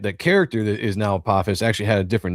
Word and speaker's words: Apophis: Apophis, yeah. So in Egyptian mythology, Apophis is a god, but the reason why I have that name in the book is that the character that is now Apophis actually had a different name to begin with